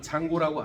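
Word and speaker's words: Django: 이 역시 서부의 무법자 장고라고 알아? 총잡이 장고. 장고의 진짜 이름이 원래는 BJNGO야. G는 묵음이야.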